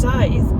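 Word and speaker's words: Sadhbh: said snitches gets stitches um her name is Scythe is pronounced like the thing that you can't hang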